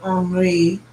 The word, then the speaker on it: Henri: interviewing Dustin Henry tomorrow, or Henri, if you were pronounced it in the French way that it is spelled.